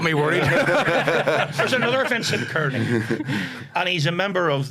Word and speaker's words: Kearney: on oik was c so Rob Kernney the great rugby player was called Rob Carney that's how they pronounce his name we couldn't resolve